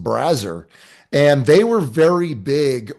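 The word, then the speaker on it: Brazzers: I thought it was Brazer, but it's actually pronounced Brazer, and they were very big on the big boobs, like tit fucking scene.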